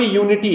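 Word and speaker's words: unity: माने एकता होता है अब देखो ये यू से शुरू हुआ है तो हमें लगेगा कि इसके पहले हम एन का यूज कर द किसका यूज कर दे एन का लेकिन जो इसका जो यू लेटर है इसका प्रोनंसिएशन क्या आ रहा है य क्योंकि हम बोल रहे हैं यूनिटी क्या बोल रहे हैं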